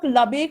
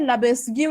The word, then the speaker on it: Lebesgue: इसको आप लोग लबेग प्रोनाउंस करेंगे, ठीक है, लबेस्ग्यू नहीं पढ़ते, बहुत लोग लबेस्ग्यू पढ़ते हैं, लेकिन ये प्रोनाउंसिएशन नहीं है, प्रोनाउंसिएशन है लबेग।